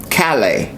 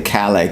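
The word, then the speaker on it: Callais: I say Calala cuz it's spelled the same name as my former slave name, Laval. It's C A L L A I S.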